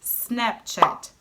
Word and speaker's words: Snapchat: lot of tch sound In English it's just Snapchat In Portuguese there are a lot of these sounds It's even harder to